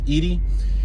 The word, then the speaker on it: Iris: shout out to edie her name is iris but you pronounce it in spanish edie she takes care of